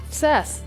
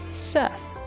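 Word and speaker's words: Sazh: we bother going up there besides getting items sess so that's how you say his name sess anything on either sides of these things oh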